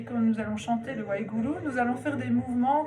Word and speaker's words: Waheguru: Wahe, Guru, donc les G en gourmski, en sanskrit simplifié, ils se roulent. Et les U se prononcent U.